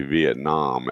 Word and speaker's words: Vietnam: So he said Vietnam pronounces if the A is not the word. So it would be Vietnam as in almost an O, right?